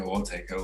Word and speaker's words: Taiko: but like you can there's like two different pronunciations for it so you can either say taiko ortego like i say take